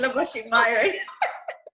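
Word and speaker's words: Labosshy Mayooran: Oh my God, not Sri, it's Laboshi Myron. I'm thinking about my hotmail. Labo, do you want to spell that?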